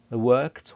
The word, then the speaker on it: worked: لكن عايزك تهتم بنطق ed لان في حالة work ed بتتنطق ت, so we say worked.